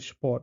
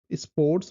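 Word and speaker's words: Sport: করে বলা হয় যে স্পট, আমরা স্পোর্টস বলি না, এখানে ইংলিশে যেমন স্পোর্টস বলা হয়, এখানে বলা হয় স্পট। স্পট মানে তালিবা স্বর সাথে যে পয়ের যুক্ত বর্ণ ওইটা ওইভাবে উচ্চারণটা হয় যে স্পট, স্পট।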